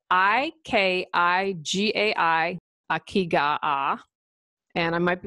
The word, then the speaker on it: ikigai: First, this is spelled I-K-I-G-A-I, Ikigai, and I might be butchering that.